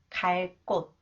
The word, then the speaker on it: 갈 곳: Okay, when 기역 comes after the final consonant real that follows a verb, it is pronounced 쌍기역, 끄 sound. 갈 곳, 갈 곳.